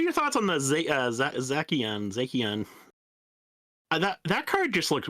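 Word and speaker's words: Zacian: Fresh Tat said Zakon. I I'm pretty sure it's Zashian. I've heard Zachon. I've heard Zashian.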